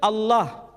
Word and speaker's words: Allah: Tidak ada seorang pun di kalangan masyarakat Timur Tengah ketika menjumpai istilah Alif, Lam, Lam, Ha dibaca Allah. Tetapi mereka serempak menyebutnya dengan pronunciation Allah. Menyebut dengan sebutan Allah.